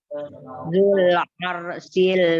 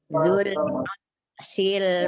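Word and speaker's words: ذو العرش: Zul arsil majid. Zul, lam sukunnya dijelaskan. Zul aru. Roknya tebal karena rok sukun sebelumnya fathah. Maka roknya dibaca tebal. Zul arshil majid. Zul arsil majid.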